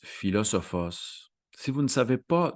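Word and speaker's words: φιλόσοφος: terme de philosophe hein qui en grec se prononce philosophos si vous ne savez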